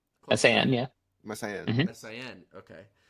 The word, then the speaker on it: Messiaen: For the selection for this this segment, we have a piece from Olivier Messiaen. Did I pronounce that right? Messiaen, yeah.